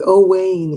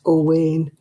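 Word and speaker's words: Owain: oh he spelled there's all wayne is o-w-a-i-n is welsh that's all wayne it's still a crown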